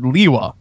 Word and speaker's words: Lewa: but I'm just saying if you look at the word Lewa l e w l- a a l a it's not that hard now that that as an alternative pronunciation to Lewa makes a ton of sense Lea does not Lea